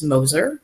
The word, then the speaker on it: Moeser: my name is last name is pronounced Moser so I'm a social